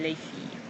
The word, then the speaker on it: les filles: And once again you have an S, but the S on the end of the noun here is not pronounced, nor is the S here. You don't pronounce any of those. You don't hear them.